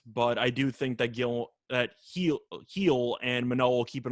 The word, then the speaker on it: Gil: Luis Gil, or Hill, however you want to pronounce it, is pitching for the Yankees. It is Heel, actually. Heel, sorry.